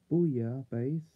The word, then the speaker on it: Booyah Base: Booyah Base is pronounced roughly the same as Booyah Base, a French seafood stew.